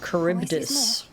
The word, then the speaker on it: Charybdis: I was wondering how you pronounced its name. Charybdis.